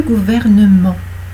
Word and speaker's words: gouvernement: Le gouvernement. Voilà, c'est prononcé. Le gouvernement, vous avez le R et le N avant le E, et après le E, vous avez le M. 2 consonnes avant, une consonne après.